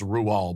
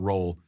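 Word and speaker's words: Roald Dahl: rual doll's book the witches yes it is pronounced ruel by the way not roll in the movie hathaway's character is which i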